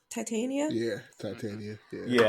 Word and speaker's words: Titania: you pronounce her name Titania yeah Titania yeah yeah I keep caught wanting to call her to Tanya when I see her name I went to school